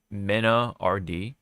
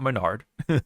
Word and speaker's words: MenaRD: we got of course Mina Rd not Menard I know I know it's tempting to say manard but I forgot who